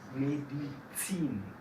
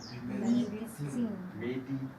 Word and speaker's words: Medizin: La Z suena un poco más como TS. Medizin. No escucho. Medizin.